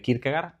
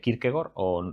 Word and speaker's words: Kierkegaard: Yo pronunciaré Kirkegar, lo españolizaré, no diré Kirkegor, de hecho no sé ni cómo se pronuncia en danés, pero bueno, eso que